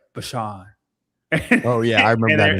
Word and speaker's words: Bijan: He goes, well, nobody actually says it right, so you're fine with Bijan. He goes, well, how do you say it? It's like Bashan.